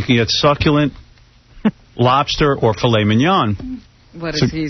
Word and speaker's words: filet mignon: how about tenderly aged filet mignon? Dick. You're an asshole. You don't say... How do you say it?